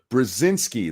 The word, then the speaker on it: Brzezinski: Brzezinski. There you go. That's how you say it.